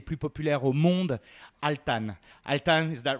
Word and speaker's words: Altan: Altan, is that right? That's the way you pronounce it.